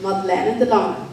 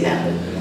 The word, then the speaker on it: Madeleine de Lange: And my name is, well, you pronounce it Madeleine de Lange, but you can say Madeline.